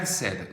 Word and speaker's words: said: say, said, said. 이거 좀 발음 다르죠? pay는 paid 이렇게 발음하는데 say는 I 사운드가 탈락돼서 sad, said 이렇게 발음하시고 자, sick 앞에다가 별표 쳐볼게요.